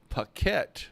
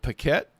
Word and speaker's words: Paquette: I don't think you pronounce it Paquet. There's an A. If it was an E, I would definitely say it's PK, but that's it. We're going to go with that, and if we're slaughtering